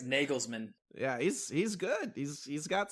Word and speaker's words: Nagelsmann: This guy Nigelmann, right? I think is Germany's international coach. And did I pronounce that right? It's Nagelsmann.